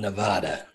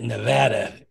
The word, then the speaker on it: Nevada: still be cute I'm Nevada now you pronounce it Nevada if you're from Nevada if you're not you call it Nevada that's how you know